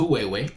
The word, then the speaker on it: Huawei: It's pronounced Huawei.